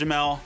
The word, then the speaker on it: Jamal: Spelled Jamal, pronounced Jamel.